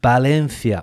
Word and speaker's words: Valencia: So, it's Barlona and Balenthia.